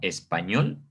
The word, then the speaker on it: español: Si la sílaba tónica fuera esta, pues diría español, ¿no? Si fuera sílaba tónica esta, diría español. Obviamente se escucha la diferencia, pero como nosotros la conocemos como español, la sílaba tónica pues va a recaer en esta última sílaba.